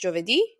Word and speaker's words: Giovedì: In Italian, it's pronounced Giovedì.